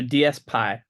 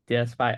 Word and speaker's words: DSPy: All right, so DSPy, that's how it's pronounced. That puts all the questions to bed. Yes, like NumPy or PyTorch. DSPy.